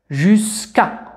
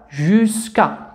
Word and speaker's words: jusqu'à: إذا J مع U ju. S K كلون مع U تنطق ك. jusqu'à مع A تنطق ك. jusqu'à حتى.